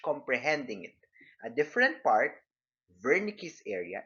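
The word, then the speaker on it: Wernicke: In contrast, with regards to understanding language, comprehending it, a different part, Vernick's area, it's spelled with a W, but the pronunciation is Vernick's area, is the area of the brain responsible for comprehending both oral and written language.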